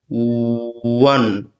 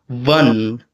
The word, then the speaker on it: one: one one for many Indian speakers there is a tendency for making the one as it's kind of like labod dental which seems to be like the stricture seems to be like vun v. But this is not how you pronounce in American English.